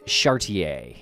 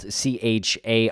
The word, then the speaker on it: Chartier: we're going to talk about today is judith chartier and uh if you're looking to google this case her last name is spelled c-h-a-r-t-i-e-r phonetically chartier but we're gonna use chartier here